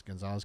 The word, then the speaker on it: Goncalves: That was her sister, and it was Gonzalez, but it was spelled like Conglaze. Remember, I didn't know how to say it, but it's Gonzalez, Kaylee Gonzalez.